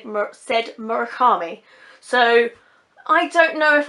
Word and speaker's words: Murakami: I googled some website where it brought up Japanese speakers saying it and they all said Murakami, and ever since then every time I've heard someone say his name they've said Murakami.